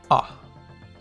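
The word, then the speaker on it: あ: Pronounced. Ah.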